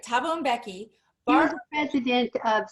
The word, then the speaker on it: Thabo Mbeki: That's right, Thabo Mbeki.